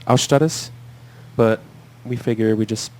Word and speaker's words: Austaras: stars is spelled aus ta Ras it's correctly pronounced our status but we figure we just pronounce it like American the background of the name is it comes from Lithuanian mythology or technically Baltic mythology and our Stratis is a god of wind and storms at